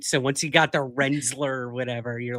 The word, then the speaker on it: Rensselaer: Rensselaer, yeah.